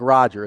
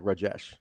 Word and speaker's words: Rajesh: It's not pronounced that way. That's okay. Everybody gets it. It's not like Roger. It's like Rajesh.